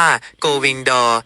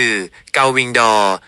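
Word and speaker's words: gull-wing door: ที่ สุด อีก ครั้ง ถึง แม้ ว่า โกวิงดอร จะ สื่อ สาร ได้ แต่ ถ้า อยาก ออก เสียง ให้ ตรง กับ ต้น ฉบับ ภาษา อังกฤษ เป๊ะ ๆ คือ เกาวิงดอ เกาวิงดอ ครับ เกา เกา ออก เสียง คล้าย กัน แต่ มี เสียง โล แอ ที่ ปลาย ลิ้น เบา วิ ออก เสียง เหมือน วิ ที่ แปล ว่า ปีก ดอก เสียง เหมือน ดวง ไม่ ต้อง อ่ะ อีก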